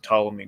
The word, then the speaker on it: Ptolemy: the last days of Ptolemy Gray follow me spelled with a p like pathology like like the Greek like the Greek one yeah exactly so uh